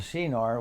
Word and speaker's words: Shinar: Okay, the pronunciation of this land is called Shinar, which means land between 2 rivers.